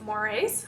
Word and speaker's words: mores: folk ways and mores it is pronounced mores almost like a moray eel it's just spelled differently and these are the unwritten